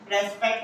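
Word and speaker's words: respect: 10% आपको कहीं ना कहीं आपने सुना ही होगा कि यार इसे रेस्पेक्ट नहीं पढ़ते, रिस्पेक्ट पढ़ते। पर इंग्लिश प्रोनाउंसिएशन जो होता है, ब्रिटिश अमेरिकन प्रोनाउंसिएशन, आप उसमें इसे रेस्पेक्ट भी बोल सकते हो।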